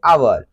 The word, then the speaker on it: hour: जैसे आवर, तो HOUR आवर, तो H इसमें साइलेंट होता है, हम पढ़ते हैं आवर, क्या पढ़ते हैं आवर, आवर।